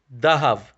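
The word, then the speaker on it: דהב: sound so for example the hebrew word for gold is zahav and in aramaic it's pronounced as dahav because zion gets transferred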